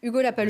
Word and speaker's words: Lapalus: Et Hugo Lapalus, jeune de l'équipe. Sans prononcer le S.